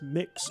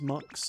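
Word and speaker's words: Mx: Oh, it is pronounced mix or sometimes monks. I've heard it mix.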